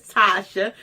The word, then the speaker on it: Tashia: Like I always say, if y'all don't know yet, if y'all don't know yet, my name is Tasha, and that's Tashia. The I is silent.